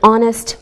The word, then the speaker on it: honest: Same with an honest man. We don't pronounce the H.